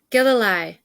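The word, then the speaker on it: Gilleleje: Gililei. Gililei. Okay, we got it. Okay. Told Mama that she should come to Gililei to live again so that he wouldn't have to do all the chores by himself.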